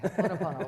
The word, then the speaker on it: Ho'oponopono: Ho'oponopono. Ho'oponopono. Cuz I always want to say I always add an extra Okay, Ho'oponopono.